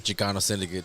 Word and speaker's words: Xikano Syndicate: out there yeah you know what I mean Chicano Syndicate tell them how to spell that x-i-k-a-n-o-s-y-n-d-i-c-a-t-e to come on all platforms